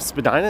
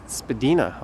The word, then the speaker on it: Spadina: All right, so we are making our way towards, I think this part of Spadina is actually officially pronounced Spadina, although no one says it that way.